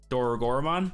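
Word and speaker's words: Dorugamon: will save black no rugamond though dora gorman is how you say it yeah read that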